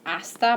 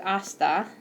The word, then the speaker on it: hasta: the beginning of words so those are gonna be silent with hasta and then lastly I'd